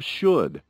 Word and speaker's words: should: Pronunciation Listen and repeat Notice the pronunciation of should The OU is pronounced like the U in putAnd the L is not pronounced.